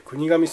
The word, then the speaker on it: 国頭村: 国の頭の村と書いて国頭村と読みます。